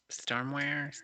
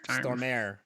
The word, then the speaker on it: Stormare: I Now they can't pronounce his name. Stormware? Stormare.